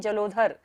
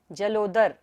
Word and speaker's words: जलोदर: भूत भीषण चलो दर यहां पर धा नहीं है कई लोग इसको क्या पढ़ते हैं जलोध जलोदर नहीं है द है ये जलोदर उद भूत भीषण जलो